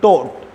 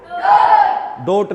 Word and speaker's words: taught: Teach की second form आपकी होती है टॉट। टीच, मेरे साथ बोलेंगे, टीच, टॉट, टॉट, डोट नहीं, टोट है भाई।